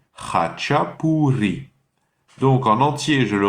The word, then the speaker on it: khachapuri: Et le deuxième mot, qui commence par hacha, donc le ch, c'est la jota espagnole, pour ceux qui parlent déjà un peu espagnol. Donc ha, hacha, hachapuri. P-O-U, encore la R espagnole, le R roulé, puri. Hachapuri.